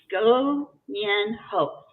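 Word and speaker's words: 过年好: can see it right here g-u-g g-u-o n-i-a-n-h-a-o go n hope and for all of you who are watching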